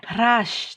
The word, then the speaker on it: হ্রাস: হ্রাস, তাহলে এখানে হয়ের সাথে একটা রফলা আছে, তাহলে আমরা কি বললাম, হয়ের সাথে র থাকলে এইচ আর এর মতো উচ্চারণ হয়, এইচ আর।